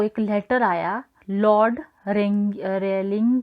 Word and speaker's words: Rayleigh: फिर रमन को एक लेटर आया लॉर्ड रेलिंग की तरफ से, लॉर्ड रेले की तरफ से, स्पेलिंग इसकी RAYLEIGH होगी, प्रोनाउंसिएशन इसकी रेले ही करते हैं।